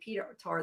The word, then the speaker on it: Petar: I don't know, they pronounced it Petar though, rather than Peter, right?